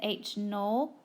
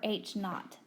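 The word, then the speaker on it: H₀: a null hypothesis is H Sub Zero but we pronounce that as H null or H naught an alternative hypothesis is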